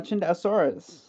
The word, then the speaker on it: Chindosaurus: It It's It's It's Chindosaurus. Yeah. Like Star Wars. I'm going to be hon is Is it pronounced Chinto? That is more correct pronunciation. Okay. Because in Mandarin Chinese, I'm gonna be honest.